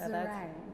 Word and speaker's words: Zarang: It's just like meringue, but with a Z. So Zarang.